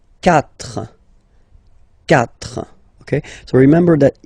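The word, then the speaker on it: quatre: So you get this c but then the sound that you will pronounce is ka. Okay. Catra.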